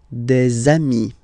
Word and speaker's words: des amis: okay, here, and then there is this little liaison, remember, it's been introduced in a previous lesson. You put this little link between the word des amis.